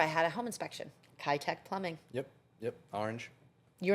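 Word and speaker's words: Kitec: and I remember I had a home inspection, Keitech Plumbing. Yep. Yep. Orange. You remember hearing that though, right? The '9s. Am I saying it right? Keitech. Yeah. Keitech.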